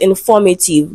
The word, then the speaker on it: informative: the word is pronounced informative that is the correct pronunciation and if you humm so you can guess that the answer to this question or the syllable falls on the second syllable right when we consider under the root word pattern.